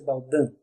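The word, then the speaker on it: Baudin: jovens irmãs médiuns psicografo escreve-se Baldim mas pronuncia-se Baldan de 18 anos e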